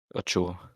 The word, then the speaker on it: Ochoa: How do you pronounce that keeper's name? Ochoa.